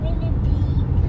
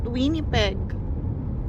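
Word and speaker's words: Winnipeg: Winnie Pig. Winnie Pig. Why I said Winnie peg? It's like the word pig. Yeah, it's like the word winnie pig but it's winnie peg anak.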